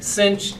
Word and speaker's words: sinh: So, but that's, most of the time you're going to hear cinch, tanch.